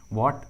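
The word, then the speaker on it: what: के बाद आया है, इस ट्रिक के अनुसार एच का उच्चारण नहीं किया गया है। देखिए इंग्लिश वर्ड्स में एच का आवाज़ नहीं आ रहा है, व्हाट, when, why, where, because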